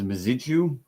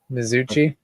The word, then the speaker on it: Mizuchi: is Taurus there is maitu which I always pronounce wrong mizuchi mizuchi thank you Lord and